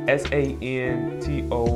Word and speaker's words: Santoku: So this Katsu knife, and I think the pronunciation of this knife is Santoku. It's Santoku.